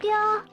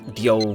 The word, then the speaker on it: Ryo: See, I always find it interesting how characters in this game pronounce Ryo's name as Dio more than Ryo. Which I understand probably, fun fact, this entire game's English dub was recorded in Japan. So that might be why. I think it's pretty more accurate to how they pronounce it in Japanese. I'm English.